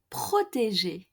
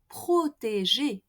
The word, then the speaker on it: protéger: Protéger.